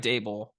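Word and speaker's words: Daboll: uh the Vikings but Brian dable rhymes with table he is setting the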